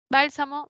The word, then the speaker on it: bálsamo: de medicamento una sustancia es una palabra esdrújula y siempre se tildan luego está la siguiente